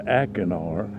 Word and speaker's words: acinar: They change the pronunciation, thank God, to acinar.